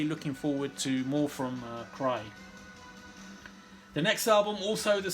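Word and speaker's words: Crye: mention from 2018 is a swedish band called cry and it's spelt c-r-e-y-e it's a self-titled album this is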